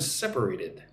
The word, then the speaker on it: separated: Look at the word separated. Se perate separate. So four syllables separated. Put the emphasis on the first syllable.